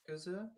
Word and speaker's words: Yakuza: I mean, if the Yakuza can chop off a finger, I mean, ninja clans exist. Yeah, they even have a ninja world. Mm-hmm. Yeah. Yakuza?